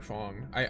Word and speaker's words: Fangi: It could be Fang or Fong. I I think Fongy would probably be correct. I also don't know if Okay, I actually do not remember. Okay, let me Oh, well, I found a Chinese pronunciation. So, let me Yeah, hit me with that. It's Fongi. Okay, so it's Fongi is the corre correct pronunciation.